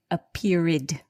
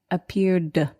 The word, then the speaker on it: appeared: appeared we don't say a pyrid so at the end of appeared the ed is pronounced just like d appeared so josie why is